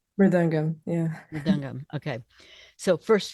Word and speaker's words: mridangam: Now, first, did I pronounce that right? Mridangam, yeah.